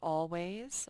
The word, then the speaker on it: always: Always has 2 A's in it. It also has 2 syllables. Always. The A says aw. Right at the beginning it says aw. And right here it says A. All A. Always.